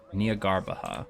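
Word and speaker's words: Jnagarbha: malt Nia garbaha day that's how they pronounce it so the J is completely completely silent Nia garbaha that's such an interesting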